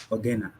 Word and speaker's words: Ogenna: Oh, did I pronounce that correctly? Ogenna.